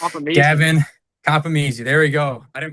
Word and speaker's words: Compomizzi: I don't want to butcher this Gavin Copy.